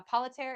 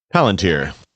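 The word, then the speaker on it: Palantir: Everybody of any consequence is leaving the polit uh uh politer. Am I saying that right? Palunteer.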